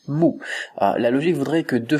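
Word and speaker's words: 木: ça par exemple ce caractère là il se prononce Mo la logique voudrait que deux fois le même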